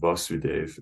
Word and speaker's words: Vasudev: vasudev so this is vasudev it's a short a you notice there's no line over the first a when there is it